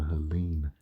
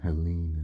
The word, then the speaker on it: Helene: So Helene, all right, or Helen. Helen's the English or common pronunciation, and Helene is the French way, okay?